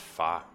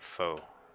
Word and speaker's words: pho: father that Vietnamese soup I've heard it pronounced Fah I actually went to a Vietnamese place the lady there was calling it pho and then I was confused I spent all this time thinking it was far and there's someone who's